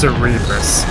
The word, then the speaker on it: Cerebrus: but its name in the card game is Flame Cerebrus. I'm not sure where they got that from. Yeah, it's pronounced Cerebrus.